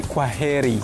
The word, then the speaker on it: kwaheri: In Swahili we say kwaheri.